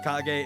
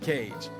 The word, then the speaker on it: kage: so you all know kage is supposed to be pronounced kage and not cage thanks for coming to